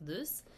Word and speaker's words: Luce: It says here in our textbook, Luce, pronounced loose, and her friends enjoy